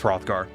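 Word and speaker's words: Hrothgar: I should totally be however I pronounce this word rothgar is it an hro th yeah that's rothgar you will not have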